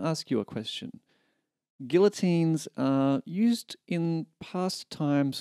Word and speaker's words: Guillotine: learn how to play Guillotine by Jon Bellion. Now, you may pronounce it guillotine. I pronounce it guillotine because I don't think I can carry off a French accent quite well enough.